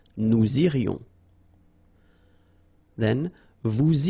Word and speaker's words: irions: Nous irions, final S not pronounced. Nous irions.